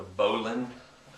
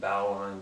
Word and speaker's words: bowline: Alright, first one is the bowline. A lot of people pronounce it bowline, but it's, from the books I've read, it's bowline.